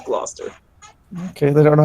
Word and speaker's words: Gloucester: Leonard Campanello, the police chief of Gloucester, Massachusetts. Gloucester. No, Levi. Gloucester, Massachusetts. No, it's Gloucester.